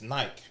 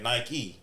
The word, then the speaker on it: Nike: Nike, you have to say the E at the end. It's Nike. Yeah. You know, but you have to say Nike.